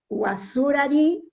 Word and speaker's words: Guacurarí: Guasurari, que es porque parece que el nombre y el apellido tiene varias pronunciaciones. Así es. Entonces parece que Guasurari es la que más se adapta al origen guaraní. Es lo correcto, exactamente.